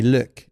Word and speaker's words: Luc: my my even though everybody in the US calls me Luke in in Quebec they call me liuk that's how you pronounce it so RI goes to